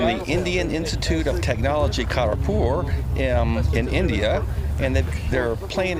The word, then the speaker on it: Kharagpur: Kharagpur.